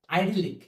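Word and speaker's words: idyllic: শব্দ সরল বা শান্ত এখন আইডলিক শব্দের উচ্চারণটা করার সময় আইডল আইডল যেটা আমরা জানি আইডল মানে আদর্শ যারা নেতা আদর্শ তাদের শব্দের সাথে কিন্তু আইডলিক শব্দট একটু মিল আছে আমরা জানি নেতা যারা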